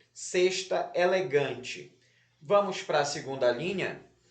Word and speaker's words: elegante: Elegante, um tracinho embaixo da sílaba gan.